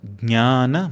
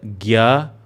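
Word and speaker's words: ज्ञान: It is not Gya or Dnya or Gnya as multiple regions of Bharat speak it. It is Jna.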